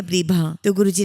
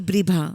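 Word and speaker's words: Bribha: गुरुजी गुरुजी विभा या ब्रभाम ने कहा कि ब्री भा और स्पेलिंग भी बोलकर बताई बी आर आई बी एच ए ब्री भा और इसके बाद हमने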